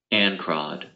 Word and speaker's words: ancrod: The next word is ancrod. Ancrod. It is spelled A-N-C-R-O-D.